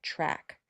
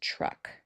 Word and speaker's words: truck: But this word is truck. Truck. Okay. So sometimes, folks, it's one right answer. This is always truck. It's not a truck. Um, I guess you could get away with that. It's not a track, and it's definitely not a trek, right?